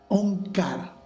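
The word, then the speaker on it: ਓਅੰਕਾਰ: Onkara representa a Dios o el poder trascendental.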